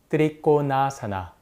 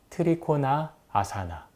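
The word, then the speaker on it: त्रिकोणासन: 아주 대표적인 동작인데이 동작을 인도 고대어 산스크리트어 발음으로 하자면 드립고나사나 대충 이런식이 됩니다 근데 영미권에서는 이런 식으로 발음을 합니다 그리고 한국과 일본에서는 트리코나 아사나 이렇게 발음합니다 무슨 차인지 아시겠나요이 아사나라는 단어를 한국과 일본에서만 이렇게 분리를 해서 발음합니다 하지만 인도에서는 그 누구도 이런 식으로 발음하지 않습니다 이게 뭐가 문제냐고 생각하시는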